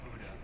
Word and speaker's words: Buda: It's pronounced Buda.